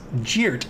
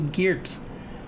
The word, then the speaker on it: Geert: Most people think his last name's pronounced Geert. It is not. It is actually Geert. It is Elvish.